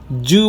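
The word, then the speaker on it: zoo: জু বলো না, জু বললে অর্থ পাল্টে যাবে, জেড সফট করে উচ্চারণ করতে হবে, জু।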